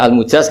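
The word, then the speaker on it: المجاز: Saya tidak perlu nulis sanad lagi karena sanad itu untuk al-mujaz, bacanya al-mujaz karena dari fi'il madhi ajaza.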